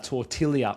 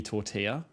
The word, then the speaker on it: tortilla: or suck series is I was pronouncing tortilla tortillia on purpose. Right. It's like I say bon appetite. I'm purposely saying that. Uh, I mean that's pretty obvious. Most people know, but not everyone knew about the tortillia where it's meant to be tortilla.